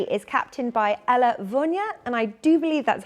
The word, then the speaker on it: Ella Vunja: Team 3 is captained by Ella Vunya, and I do believe that's how you say her name. That's how she says her name in an interview.